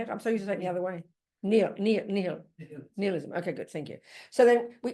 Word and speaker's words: nihilism: Nihilism.